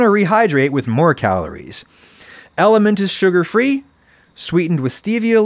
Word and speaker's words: LMNT: Element is spelled LMNT.